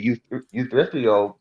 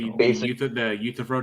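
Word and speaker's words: Euthyphro: Otherwise, you get problems like the youth youth problem. I can't pronounce that right, but the youthro dilemma. Yeah. Yeah. Yeah. That's that's how you pronounce it.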